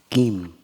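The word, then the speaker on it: niệm: And the top here it mean in Sino Vietnamese we pronounce it gim and gim means the present moment.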